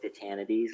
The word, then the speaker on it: Titanides: Hi, this is Titanides, like humanities.